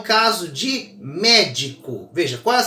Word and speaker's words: médico: ela leva acento sempre é o caso de médico veja Qual a sílaba mais forte da palavra médico ao a mais forte é o Me tenta